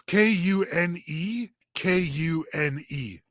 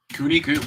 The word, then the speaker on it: Kune Kune: It's Kune Kune. Cooney. Cooney. Wow, it really is Cooney.